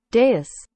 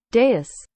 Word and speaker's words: dais: do you pronounce it? Dais. Dais.